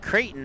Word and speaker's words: Creighton: And when I was talking to him about Dare, and he's like Creighton, and then I went and spelled it out as Creighton. He's like, that's how it should be spelled. That's where I went to school.